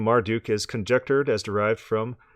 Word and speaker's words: Marduk: The name Marduk was probably pronounced Martuk. The etymology of the name Marduk is conjectured as derived from Atmar Utu, immortal son of Utu.